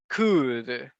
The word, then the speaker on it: could: one and this one the letter L is voiceless so we do not pronounce it okay it is the